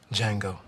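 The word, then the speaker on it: Django: Jango. The D is silent.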